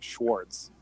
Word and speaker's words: Schwarz: On the German channels that I was listening to the commentary, they were saying Schwarz. Schwarz, like Schwarz with a Schwarz with a W.